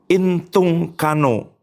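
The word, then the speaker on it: ἐντυγχάνω: Nah, kata ini pembela itu ini bacanya intungkano gitu ya. Entong kano itu untuk membuat petisi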